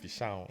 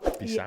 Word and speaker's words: Peeshaun: I like how you pronounce it, Peeshaun. Yeah. Bring them back, Peeshaun.